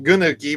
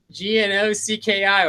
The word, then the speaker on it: gnocchi: the soup, the chicken gnocchi, or what do they call it? Yeah, I call it gnocchi, but they said no. The G is silent, so it's you can be like Snoop Dogg.